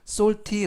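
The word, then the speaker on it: salty: 탄 달콤한 이런 뜻이고요 해 쓰는 쓱 애인은 5 엘은 느 피는 특 와인은 2 그래서 쏭 t 쏠 키 s 를 약간 강하게 바르면서 솔티 라고 발음합니다 뜻은 짠 짭짤한 이런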